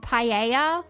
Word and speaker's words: paella: Well, J makes a H sound in um in in Spanish and the double L's are usually silent. Like tortilla is in tortilla and paella has a double L in it too that you don't pronounce.